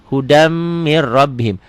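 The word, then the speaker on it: هُدًى مِنْ رَبِّهِمْ: Hudam mir rabbihim. Tulisan dan bacaan beda. Tulisannya hudan min rabbihim, dibacanya hudam mir rabbihim.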